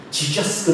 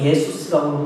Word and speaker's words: 예수스: 지저스 그러는데 지저스도 헬라어나 히브리어 다 아시잖아요, 여러분. 헬라에서도 예수스라고 그러고 독일도 예수스라고 그냥 예수라고 발음하죠. 근데 미국 사람들 그 발음 못하잖아요. 지저스.